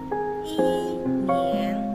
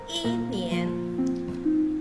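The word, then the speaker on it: 一年: Maka i berubah menjadi nada 4 ya, berarti cara bacanya bukan i nien putwe, tidak benar, tetapi i nya dibaca berubah menjadi nada 4 dipukul, i nien gitu ya.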